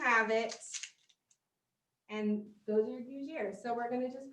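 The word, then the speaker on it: gougère: but this is called a Gougere. See, all these goo and gris, yeah, Gougere and gris, okay.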